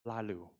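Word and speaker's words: Laloux: reinventing organization by Frederick lalu this is how to pronounce his name because French yep this book talking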